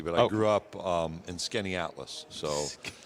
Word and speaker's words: Skaneateles: Skaneateles. Yeah. I never would have gotten that. In a sounded like it's spelled, I'd have never gotten that.